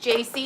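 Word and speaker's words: Jaci: thank you so much jc i think you pronounce it jc this is her right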